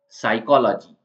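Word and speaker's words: psychology: जिसमें झड़ जाते हैं वह सीजन अब है पी साइलेंट वाला स्पेलिंग साइकोलॉजी साइकोलॉजी के अंदर प साइकोलॉजी ऐसा हम नहीं बोलते हैं इसके अंदर क्योंकि इसमें पी जो आगे लिखा हुआ है वो साइलेंट है साइकोलॉजी मनोविज्ञान होता है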